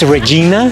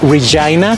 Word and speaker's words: Regina: de Regina, Saskatchewan, y dijo un chiste que dice que rima con fan. No se dice en inglés Regina, se dice Regina para los que escuchen aquí en Canadá. En Regina, aquí en español es Regina, pero en inglés es Regina.